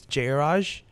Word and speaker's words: Jayaraj: It's Jayaraj. I used to find it really funny because people couldn't pronounce it right because everyone's called it Jayaraj, you know.